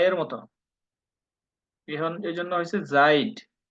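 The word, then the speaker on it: seid: উচ্চারণ প্রায় সেইম অয় অয় আবার ই এ উচ্চারণ হলো দীর্ঘ ই এর মত বুঝতে পারছেন যেমন আমরা একটা ওয়ার্ড পড়ছি সেখানে জাইড জাইদ পড়ছিলাম না এস এ ই ডি জাইড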